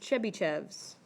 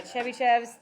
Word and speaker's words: Chebyshev: it is spelled like this and this is pronounced chebychevs okay not chubby chubby chubby Cheves cheby chefs serum everybody say it chubby chefs yeah chebyshevs there finish it by just um okay so